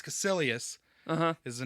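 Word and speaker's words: Kaecilius: and then I just I just started saying cissus the whole time but it's cilus uhhuh is the name uh mordo I kept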